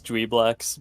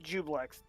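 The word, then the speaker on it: Juiblex: Yeah, according to this, it's pronounced Jublex, which is weird because why is the I in there then?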